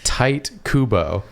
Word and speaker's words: Tite Kubo: It's pronounced Tight Kubo, which I hate so much that I don't actually want to say his name anymore.